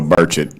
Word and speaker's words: Burchett: Well, Burchet, nobody gets that right either. I was on some show this weekend. I said, "It's birch like the tree and like I just ate breakfast."